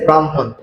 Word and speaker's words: ব্রাহ্মণ: ম আমাদের কি হবে পরের বর্ণের উচ্চারণ আগে হবে আগের বর্ণের উচ্চারণ পরে হবে তার কারণে এখানে কি হবে ম অ তারপরে কি হবে মওকার হ আর দন্তন্য বাম হন ঠিক আছে ব্রাহ্মণ তারপরে দেখেন আহলা শব্দের